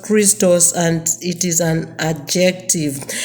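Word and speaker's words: Χριστός: The word Christ comes from a Greek word pronounced Christos, and it is an adjective.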